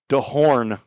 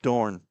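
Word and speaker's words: Dohrn: Vanessa Dornne Dehorn. There's an H in there. D O H R N. De Horn. But they for some reason do not pronounce it. It's just Dorne.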